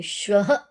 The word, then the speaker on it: श्वः: जब हम बोलते हैं, बोलते समय हमारी टंग आगे की ओर आती है, श्वः।